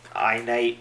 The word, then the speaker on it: iNITE: Apple equivalent and type in just as this pronounced spelled out in the instruction manual I night using lowercase a capital case or uppercase and